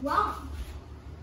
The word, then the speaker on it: Ram: The 29th letter is not tar, it's actually rom. What is rom, you may ask? Rom, like R-A-M. It's pronounced wrong.